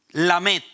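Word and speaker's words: Lamed: Se pronuncia Lamet y significa un cayado de autoridad.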